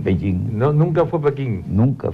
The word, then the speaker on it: Beijing: Porque Beijing es el nombre fonético en que se pronuncia la capital china, se denomina capital china Beijing. Los chinos nunca dicen Pekín.